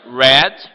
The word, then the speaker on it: read: the same phonetical form read sorry red in the past and red the color also a case of homophones okay the the the spelling is completely different the root is completely different but we pronounce it the same two two and two